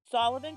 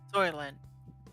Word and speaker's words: Soylent: Sullivan Green. Did I say that right? Sullivan? Soylent. Okay. I've seen it, but I just said it wrong.